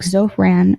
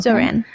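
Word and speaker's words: Zohran: One of those little things is getting someone like Zofran. Is that how you say it? Zofan. Zoran.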